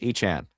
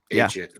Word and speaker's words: Etienne: Um and the other uh silly news was Travis Etienne is actually Travis E-T-N. Yeah. Turns out that was actually his name. It's Travis E-T-N? E-T-N.